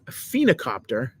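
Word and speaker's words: phoenicopter: was very interesting because I don't know if you would pronounce it phena or phonocopter, but I think it's phena, like almost like a phoenix, even though it's not spelled like it.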